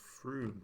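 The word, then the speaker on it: Frome: That place is actually pronounced Froome, and it's there.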